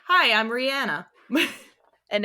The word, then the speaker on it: Rihanna: stuff like, "Hi, I'm Rihanna." and everybody's like, Rihanna. Yeah, Rihanna, because I guess that's a more, I don't know, American way to pronounce it.